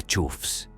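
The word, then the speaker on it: choughs: Luego están las chobas, sí, se pronuncia chufs y son los más misteriosos del grupo.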